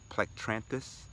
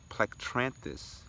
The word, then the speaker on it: Plectranthus: it's a plant that is scientifically known as plectranthus and Buena cos plectranthus and Buena cos it is spelt P l ec t ra n th u.s.